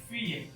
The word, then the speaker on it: filles: यून दाम, एक औरत, यून दाम, DAME, दे फी, बहुत सारे प्लूरल की बात करें, FILLES, फी, डबल एल, रिपीट कर रहा हूँ, साइलेंट रहेगा हमेशा।